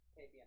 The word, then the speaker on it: Tapion: Tapion, there you go. I always get his name wrong.